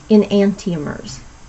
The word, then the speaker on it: enantiomers: in case you can't remember, and it is pronounced enantiomers.